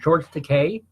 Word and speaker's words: George Takei: If Fred or Wendy or you're listening about George, I mispronounced his name. George Takei, Sulu from Star Trek.